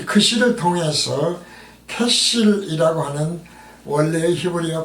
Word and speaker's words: 그실: 그실의 뜻은 우리말 성경에서 그실이라고 발음을 표기를 했는데요. 이것은 캐실이죠.